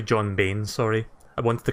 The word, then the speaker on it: Bain: Yeah, the last time I talked about Total Biscuit, I think I mispronounced his name. I said John Bryan. So it's actually John Bain, sorry.